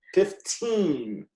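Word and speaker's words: fifteen: 15. You need to pronounce the N on the end. 15. Sounds like you're saying 50.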